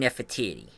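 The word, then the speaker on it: Nefertiti: now forgive me but this is how it's pronounced Queen nefatiti played by uh rain steel the lovely and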